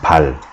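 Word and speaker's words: Baal: Like in Korean, like the pronunciation of Bale, like Bale is like 2 vowels, like B-A-O, you know? In Korean, it's just pal, just, you know, ah sound. Because when you look at the English alphabet right now too, it's B-A-A-L. So the way it's written, read and pronounced in Korean is just kind of like B-A-L, pal.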